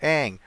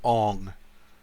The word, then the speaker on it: Aang: It's Avatar Aang. Nah, his name is Ong.